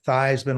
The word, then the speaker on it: Theismann: And I think some reporter from Chicago sort of whispered in Roger's ear, Is that Theismann like in Heisman?